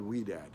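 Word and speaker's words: Ouidad: also wedad oui a some people don't know how to pronounce it it's called wead and both of those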